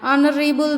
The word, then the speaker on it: honorable: A word beginning with a silent H, like A. Example, an honest man, an hour, an hair, an honorable man, an hires an honorary member, honorary in a sense member.